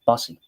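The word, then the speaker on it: Bussi: Kind of a risky or kind of a tricky one for Bussy, or Bussy, I believe is how you pronounce it. Bussy.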